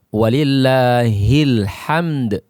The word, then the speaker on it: walillahil hamd: Nah, ada yang membacanya sampai walillahil ham, tidak membaca dal, maka ini akan merubah makna dari apa yang kita baca. Yang benar adalah walillahil hamd. Ya, dal tetap dibaca dan dia dikolkolahkan. Alhamd.